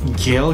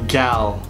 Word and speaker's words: Gal: It's not even Gail. It's Gal. Galad don't.